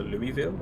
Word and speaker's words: Louisville: Louisville is Louis, so Louisville?